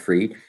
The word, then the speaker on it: Fried: max free or fried i like to call them fried but i think it's pronounced free max free comes out